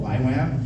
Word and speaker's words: YWAM: wonder why we're called why Wham youth with the mission it's like not a very good name it's like we don't even pronounce it right it's like why Wham I type in Google